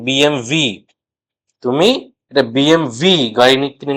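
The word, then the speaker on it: BMW: কিন্তু German brand হওয়ার জন্য এই ডবলিউ কে কিন্তু জার্মানরা ভি হিসেবে উচ্চারণ করে। তাই বিএমডবলিউ নয়। আসল উচ্চারণ বিএমভি।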